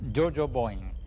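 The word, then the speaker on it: Yo-Yo Boing!: libro Jo Boeing Boeing se pronuncia joo Bo Jojo Boeing eh precursora del spanglish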